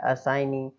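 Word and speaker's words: assignee: Next लिखा हुआ है असाइनी, असाइनी, है ना, तो देखिए उसमें जी को हम पढ़ ही नहीं रहे हैं क्योंकि एन के पहले आ रहा है, ठीक है, प्रतिनिधि होता है।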